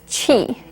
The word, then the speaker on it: Qi: use to discuss acupuncture the first word you need to know is Chi it's spelled Qi Qi means the energy